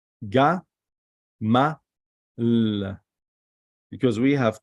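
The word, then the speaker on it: גמל: This is Gimel, Mim, Lamed. So we pronounce it Ga, Ma, L.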